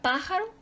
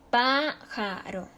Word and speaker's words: pájaro: fácil eso Por ejemplo la palabra pájaro pajaro es su sílaba tónica están antepenúltima sílaba se acentúa porque esdrújula brújula también